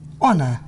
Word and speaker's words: honor: Silent H. H is not pronounced at the beginning of many words. Use the article an with unvoiced H. Here are some of the most common: hour, honest, honor, air, herb.